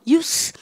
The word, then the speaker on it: use: 영어는요 동사는 사용하다 동사를 use 이렇게 성대를 올리고 힘을 주지만 명사는 뭐예요? use 힘 빼고 성대 안 올리고 사용 혹은 뭡니까? 여러분들 이용 여러분들 이럴 때는 연마 발음이 쌤이 발음기호 이렇게 써볼게요. 여러분들 발음기호니까 습니까? 즈입니까? 스 이렇게 하셔야 돼요.